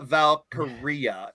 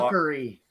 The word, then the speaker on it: Valkyria: Another trademark that was required by WWE is to Lyra Valkyria, if I'm pronouncing it right. Now, a lot of people Valkyrie. No, it's Aria at the end, like diarrhea, like your breath.